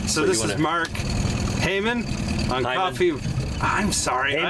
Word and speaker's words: Heymann: there it's all good I always say it wrong and I in my mind I'm like say it right say it right say it right it's spelled h e y m a an N hey man yeah so it makes sense that's that's how but in German the Y is an I sound so I these days